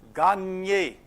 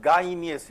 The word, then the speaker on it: gagne: Gagne. Not gainies. It is E which is coming.